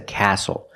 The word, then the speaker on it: castle: whistle castle and hustle the t is silent with the spelling pattern stle e example this is a castle not a castle but a castle I would love